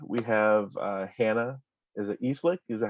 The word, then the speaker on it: Eslick: Is it Eslick? Is that how you pronounce it? It's Eslick. Eslick.